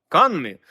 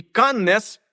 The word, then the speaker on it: Cannes: ну мабуть це багато Канни але чомусь не важивши що це Англія а Франція і каннес згідно французької фонетики вимовляється як Кан просто Кан Ну трошки відійти від